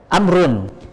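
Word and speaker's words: عمرو: wau ya seperti itu kalau ada wau berarti dibacanya bukan Umar tapi amrun ya seperti itu kecuali kalau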